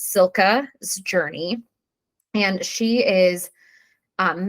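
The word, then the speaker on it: Cilka: had to look up several times how to pronounce her name but it's Sila's journey and she is um mentioned in the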